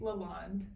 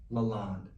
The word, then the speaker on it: LaLonde: Lalonde. Lalonde. Yep. Cuz I see that e on the end. I keep forgetting. It's not Lalonde. It's Day. No, the e is silent. It's French.